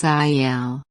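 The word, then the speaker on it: aisle: called as an a notice the letter s in this word is silent it's pronounced as iel so for instance if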